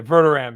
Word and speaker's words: Verderame: So there's like 3 different pronunciations that are essentially correct. So, yeah, Verderame is fine. That'll work.